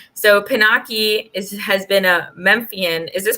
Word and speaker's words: Memphian: So Pinaky has been a Memphian. Is this pronounced properly? Memphian, yeah.